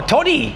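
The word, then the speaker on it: Todi: My name is Tody. Tody? Yes. How do I spell that? Uh t o d i Oh, Tody. Yeah. Like hot toddy.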